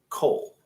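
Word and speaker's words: כל: It'll be kaf patah or kaf kametz lamed. You'll be like, is this kol or kol? It's going to be kol, almost exclusively, unless it's eat, which is ochel.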